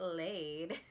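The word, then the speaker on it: Leid: Then for blush, I'm going to take the Get Laid, and it's, you can't see it from there, but it's spelled L-E-I-D, so laid.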